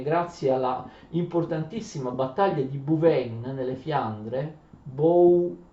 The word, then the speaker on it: Bouvines: Grazie a tutta una serie di sistemi, ma anche grazie alla importantissima battaglia di Bouvines nelle Fiandre, Bouvines, ora c'è qualche esperto che mi dice si scrive Bouvines, qualche esperto mi dice che si pronuncia Bouvines, d'accordo?